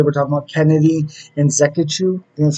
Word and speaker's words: Nzechukwu: So today we're talking about Kennedy and Nzechukwu, that's how you say it, versus Karl Roberson.